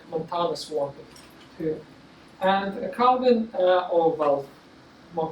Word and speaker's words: Calvin: And Calvin, or well, more correctly, we pronounce it Calvin, right? It's more correctly Calvin. It's a French name, and he lived in Geneva.